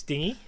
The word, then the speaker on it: dinghy: standing there holding this dinghy. I don't know what you call these little boats. I'm going to call it a dinghy, but yeah. What's that? You pronounce the G. Dinghy?